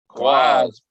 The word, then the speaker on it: QAZ: Quaz? Quaz.